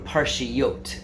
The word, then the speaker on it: parshiot: be reading two parshas in Hebrew parshy yote that's the plural of the word and it rhymes with pargiot which are boneless chicken breasts in Hebrew those two